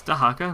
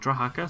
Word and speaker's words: Dahaka: eyes to hacker Dahaka it's Dahaka not DRA haka some people correct me in the past hard to change pronunciations though once they kind of set in your mind so it works looking